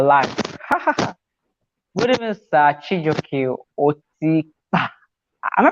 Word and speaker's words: Otikpa: Chijioke Otikpa. Am I pronouncing your surname well? Is it Otikpa or Otikpa? You tried. You tried. Otikpa.